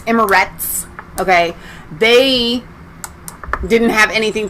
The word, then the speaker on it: Emirates: uae united arab emirates i always say i always want to say emirates like there's an n on it's not it's emirates okay they didn't have